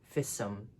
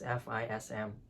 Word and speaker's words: FISM: You read the initials of a word as one word, FISM. Don't read it as FISM.